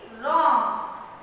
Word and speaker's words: wrong: W-R-O-N-G. Wrong. W-R-O-N-G. Wrong. Wrong. Wrong is what, children? Wrong. W-R-O-N-G. Wrong. We are pronouncing the word wrong with the letter R-O-N-G. Wrong. But W is silent.